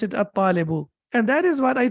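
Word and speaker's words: الطالب: It's difficult to pronounce it even. So, al-babu, yes. Al-talibu or at-talibu? At-talibu, excellent.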